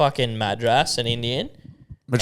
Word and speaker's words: Madras: curry yeah it's a Madras Madras yeah Madras you put emphasizing the wrong letter you're putting the emphasis on the wrong vowel it's it's Madras go on yeah it's